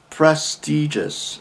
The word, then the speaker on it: prestigious: does that do you guys do that prestigious prestigious is the way to pronounce that not a bad word use these